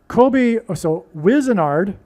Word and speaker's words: Wizenard: So Wizenard rhymes with wizard.